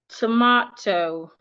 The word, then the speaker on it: tomato: So for these type of words, we are stressing their second syllable.